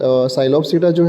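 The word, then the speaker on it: Psilopsida: तो साइलोप्सीडा जो है उसमें पी साइलेंट है, जैसे टेरिडोफाइट है तो पी साइलेंट है।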